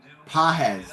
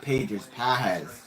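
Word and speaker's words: Pagés: say this guy's name pahez not pages that's love one one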